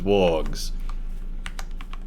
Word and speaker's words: warg: so I do know a lot of people say like it's the proper way to pronounce it his blog but Christopher Lee was like a huge Tolkien fan and you know read the books every year and made a big deal on pronunciation and he called it warg that's how he said it in the movies same now Joe walk